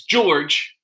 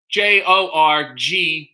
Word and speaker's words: Jorge: director of the documentary which is george but it's spelled jorge j-o-r-g-e so you want to say jorge and he said no give me the hard g and don't give me